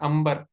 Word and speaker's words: अंबर: लेकिन पहले में हम उसको क्या पढ़ रहे हैं? अंबर पढ़ रहे हैं। और दूसरे में हम इसको अंतर पढ़ रहे हैं।